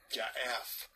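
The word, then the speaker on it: יעף: Ya'af. It's actually got Y-A-A-P. It sounds like it's got an F in it, but when it's pronounced, so.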